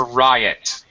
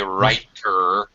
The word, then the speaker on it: riot: no no no no not a right no uh the word I'm using is Riot R IO T very common collocation